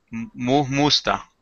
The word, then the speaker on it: Mujmusta: Dígalo otra vez, creo que yo lo digo muy fuerte, la J, ¿verdad? Se oye Diga. bien. Musta. Mujmusta. Nemillek. Ah, sí. Sí, no, no se pronuncia muy fuerte, ¿verdad?